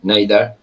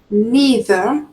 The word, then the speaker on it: neither: So this word okay it is neither neither or neither. Okay those are the two ways you can pronounce this word neither neither. Okay both are correct.